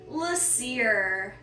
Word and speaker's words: Laseer: Laseer. Kind of like Laser, kind of like a seer, but maybe he was